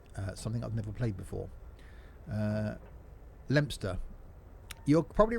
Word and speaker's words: Leominster: Leominster. You're probably right there, rather than Leominster. It's Leominster, yes.